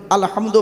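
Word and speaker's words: الحمد: রাব্বিল আলামিন আলহামদু এ গলার ভেতর থেকে এটা উচ্চারণ করবেন আলহামদু মানে হচ্ছে সমস্ত প্রশংসা আল্লাহ তোমার আর আমরা কি বলি আলহামদু এর মানে শুনবেন সমস্ত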